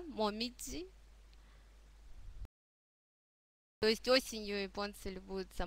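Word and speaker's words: もみじ: дальше у нас моме момидзи - это жёлтые и Красные листья клёна осенью конечно принято любоваться такой красотой в Японии нас в данном контексте интересует произношение слога Дзи да момидзи то есть осенью японцы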